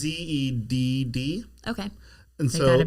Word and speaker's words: Zedd: Or is it just a Z pronounced Zed? It's Zedd.